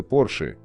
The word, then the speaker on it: Porsche: Произносится Porsche с ударением на первый слог по имени основателя компании Фердинанда Порше.